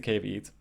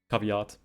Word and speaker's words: caveat: survive that is the cave eat caveat but uh caveat is a correct pronunciation i think um yeah